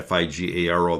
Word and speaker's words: Figaro: His comments were published by La Figaro Figaro Fi G- A R O that is pronounced Figaro, a reputable French newspaper.